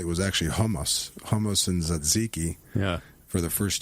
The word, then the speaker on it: tzatziki: So first of all, how do you actually properly pronounce tzatziki, which is how I say it? Tzatziki? Tzatziki. Yeah. Paul, make note. Kill the T.